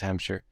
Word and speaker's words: Hampshire: is listening to it hamster is not that difficult when you listen to the you know is this two syllables Hampshire yeah but when you